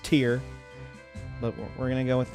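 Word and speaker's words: Tir: It's pronounced Tyr, but we're gonna go with that.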